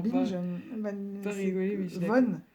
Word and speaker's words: von: pas C'est rigoler, mais Von, pas Van, Von. je la connais pas. Ouais, Hildegard von Bingen.